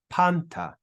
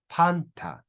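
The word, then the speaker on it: πάντα: Then we have an alpha with an acute accent, so we're going to stress that first syllable. Then we've got the consonant nu, which is like an N. We've got the letter tau, and it ends with alpha. So we read this as panta, panta, panta.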